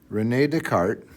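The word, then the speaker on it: René Descartes: Now Renee Deart, that's how you say his name, figured out that you could have a number that I squared equals1.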